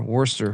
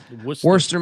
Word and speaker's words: Worcester: How do they pronounce that again? There's an angle here. Worcester, right? Worcester. Yeah. Worcester, Massachusetts.